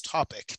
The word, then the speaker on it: tophc: We normally pronounce that as topic, tophc.ca.